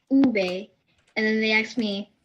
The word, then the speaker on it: ube: pronounced the name it's suppos it's supposed to pronounce Ube but they said Yu or you and I'm like um no so I I politely corrected them on saying it's pronounced Ube and then they asked me what's Ube and